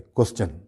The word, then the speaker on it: question: Similarly जैसे एक लफ्ज़ तकरीबन सब लोग सही बोलते हैं, क्वेश्चन, क्वेश्चन कहते हैं ना, QUESTION, एस के साथ TION है, उसको सब सही प्रोनाउंस करते हैं, उसको क्वेश्चन नहीं बोलते, क्वेश्चन बोलते हैं।